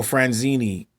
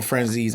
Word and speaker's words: Franzese: Michael Franzese, I believe. I said it wrong. Michael Franzese, I believe, and has his own YouTube channel.